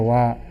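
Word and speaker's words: は: Jadi kalau awal-awalnya itu ya seperti itu karena partikel dibacanya wa.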